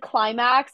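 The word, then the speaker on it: Qlimax: There's like I think it said Climax, but it's spelled Q-L-I-M-A-X.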